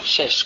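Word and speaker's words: שש: Shes con dos shin, shin shin.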